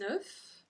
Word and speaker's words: œuf: Un œuf, and then des œufs. Des œufs. Suddenly we don't pronounce it the same way when it's plural.